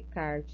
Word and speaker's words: Descartes: podem ter percebido que eu falei sempre de kart isso falei para vocês o ano passado também tá Embora esteja escrito Descartes não é assim que vocês vão pronunciar não Oi tudo bem é